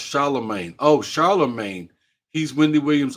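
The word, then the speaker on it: Charlamagne: thank you thank you okay she said it's pronounced Charlemagne oh Charlemagne he's Wendy Williams old sidekick when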